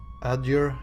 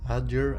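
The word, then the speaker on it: Aedyr: lands and so I do so this is pronounced adure adure adure okay I'd like to know more about vodica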